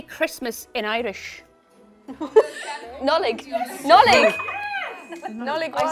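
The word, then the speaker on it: Nollaig: Nollig, I said that.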